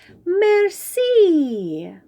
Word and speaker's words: merci: You say it like this, merci.